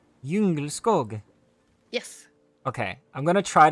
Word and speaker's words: Djungelskog: It is pronounced Djungelskog. Djungelskog.